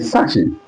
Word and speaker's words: sachet: Like if British is, or if a Briton is to pronounce this, they will call it sachet, up, rising up, sachet, or you will call it sachet.